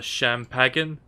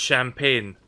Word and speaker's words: champagne: want the rest of the Sham pagan no I don't and it's pronounced champagne these publics would go